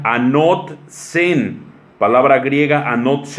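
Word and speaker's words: ἄνωθεν: nuevo también es una palabra griega que se pronuncia anoté en palabra griega a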